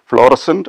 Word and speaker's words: fluorescent: o r e s c e n t fluorescent or fluorescent now there is another problem also